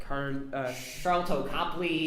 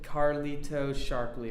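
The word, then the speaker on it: Sharlto Copley: Charlton Copley. That's how you pronounce it. How are you trying to pronounce it? I said Carlito Sharpley or something.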